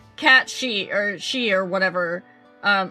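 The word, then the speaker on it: Cait Sith: Kate she or whatever it's not Kate she it's it's cat she or she or whatever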